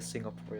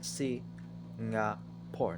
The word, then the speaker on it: Singapore: a long dream of mine to get a Singapore in dollar I want to get the two